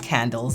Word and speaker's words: KNDLZ: The next company that I'm gonna talk about is a company called Candles. It has a really unique spelling. It's spelled KNDLZ.